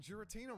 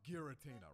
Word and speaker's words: Giratina: gears it's like giraffe it's like giraffe geriatric hold on right all this time I've been saying Giratina but he's right it doesn't seem like that pronunciation will work has it been irritated